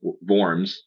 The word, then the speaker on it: Worms: year mark of 1523 the Edict of of worms or worms if you want to pronounce it that way uh that was episode